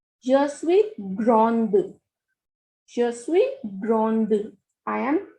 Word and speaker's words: grande: is saying, then we will use the spelling GRANDE. So hear the pronunciation carefully. Je suis grand. Je suis grand without E. And now I'm going to pronounce with E. Je suis grande.